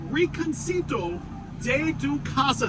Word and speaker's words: Rinconcito de tu Casa: Right, as you guys know, so we are in Vero Beach at Rinconcito de tu Casa. Did I pronounce it right?